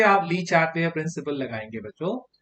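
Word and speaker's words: Le Chatelier: यहाँ फिर से आप ली चार्टलियर प्रिंसिपल लगाएंगे बच्चों। तो एज पर ली चार्टलियर प्रिंसिपल, जिसको फ्रेंच में हम प्रोनाउंस करते हैं ला शातेलिए, के हिसाब से क्या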